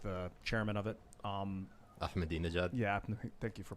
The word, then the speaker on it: Ahmadinejad: Ahmadinejad. Yeah, thank you for pronouncing that properly.